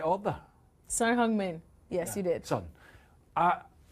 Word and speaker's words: Son Heung-min: This guy is, Son Heung-min, is, have I pronounced that in the right order? Son Heung-min.